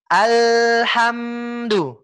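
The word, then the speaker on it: الْحَمْدُ لِلَّهِ: Seketika kita ingin melafalkan sukun, maka kita harus menekan hurufnya. Menekan hingga sempurna Pak. Ya, jadi seperti ini Pak. Alhamdulillah. Kita tekan Pak. Nggak usah takut jadi tasydid, nggak usah takut. Tapi memang kita harus tekan. Kita tekan. L-nya kita tekan. Ham, M-nya kita tekan.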